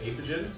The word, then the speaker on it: Apogean: opogian or apogen avigin how do you pronounce the name i would say apogee or apogee or however you feel that you want to pronounce it i like that that's